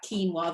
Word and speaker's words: quinoa: Dairy, eggs, and then whole grains, things like normal things like wheat, but also rice, oats, and that quinoa, that funny thing that's spelled Quinoa.